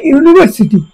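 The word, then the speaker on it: university: এ ইউনিভার্সিটি, এখানে ভাওয়াল অক্ষর আছে ইউ, কিন্তু উচ্চারণটা ইউনিভার্সিটি, এটা মানে ইউর মতো উচ্চারণ নয়, তো সে কারণে এটা এ ইউনিভার্সিটি হয়ে গেছে।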